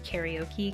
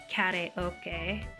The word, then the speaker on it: karaoke: used to pronounce it I always pronounce karaoke karaoke cuz I'm American but ever since I learned the correct PR pronunciation oh my gosh ever since I learned the correct pronunciation Koke I've been trying to say